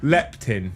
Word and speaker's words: leptin: Leptin. Leptin. Yeah. Yeah. Yeah. Leptin. Leptin. So, it's the thing that tells you whether you're full or not or you've had enough to eat. So, my leptin is um okay at the minute, but it's